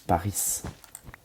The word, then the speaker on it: Paris: Bah non, tu dis Paris.